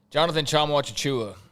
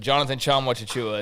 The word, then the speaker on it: Jonathan Tchamwa-Tchatchoua: Jonathan Tchamwa-Tchatchoua is how you say his name. I've said that on here before. Don't act surprised, but Jonathan Tchamwa-Tchatchoua is how you say